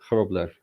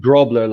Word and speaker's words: Grobler: Grobler. Okay. Yeah. Okay. Not Grobler like the. It is from German a couple of hundred years ago, but you can say the G a bit softer.